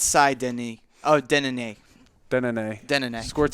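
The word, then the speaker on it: Denneny: Yeah, it's Cy Denny.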